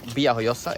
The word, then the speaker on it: Villajoyosa: something in the town VI hoosa it's VI hoosa uh written with the V but in Spanish it's a v is a b like vamos is B so this this is Bosa also known as labia